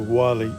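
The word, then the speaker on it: Guale: The last Indian tribe to live in this area before the British came in were the Wali Indians, and that's spelled with a G.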